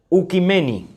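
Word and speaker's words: οἰκουμένη: desde las grandes cimas del griego se pronuncia un kameni que significa tierra habitada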